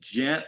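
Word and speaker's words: Jynt: a long long time is it gent like gentlemen or j-y-n-t so it is gent like gentlemen but it's spelled j-y-n-t uh it's just meant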